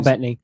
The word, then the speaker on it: Bettany: Paul Bettany. Is Paul it Bettany. is it pronounced Bettany? I always want to Bettany. call it It's- Battani, and I know that's not right.